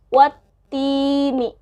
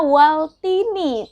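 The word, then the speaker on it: وَالتِّينِ: Jangan dibacanya waltini tapi wattini. Wattini ya, karena dia alif lam syamsiyah.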